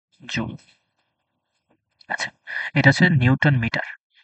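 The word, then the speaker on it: joule: একইভাবে শক্তি শক্তি হচ্ছে জুল এটার উচ্চারণ হচ্ছে জুল আচ্ছা এটা হচ্ছে নিউটন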